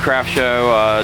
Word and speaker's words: CRFTSHO: And it's pronounced Craft Show. Like the craft, the company. And then show like a TV show. It's pretty cool. Yep. But yeah, we're on Instagram at Craft Show.